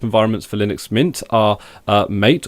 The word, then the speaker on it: MATE: for Linux Mint are mate or matei as it's supposedly pronounced and cinnamon two layouts